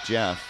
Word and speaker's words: Geoff: And he said, no, it's actually pronounced Jeff.